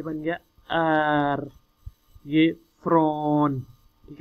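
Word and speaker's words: jag: लेकिन जब स्वीडिश में इसे प्रोनाउंस करेंगे तो वो कुछ जो वर्ड्स हैं साइलेंस कर देते हैं, जैसे वो योग को या, आर को ए, यो एफ्रॉन मालमो, ठीक है।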